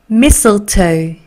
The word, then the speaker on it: mistletoe: So, 여기 T 발음이 안 나요. 마찬가지. 그래서 T 발음이 잘안 나요. 그래서 missile, missile. 됐죠? 그 다음에 T는 T, 그 다음에 O 갑니다. 합쳐서 읽을게요. mistletoe, mistletoe.